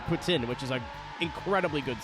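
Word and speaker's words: poutine: all Canadian Cuisine and they do not pronounce it poutin they pronounce it Putin which is a incredibly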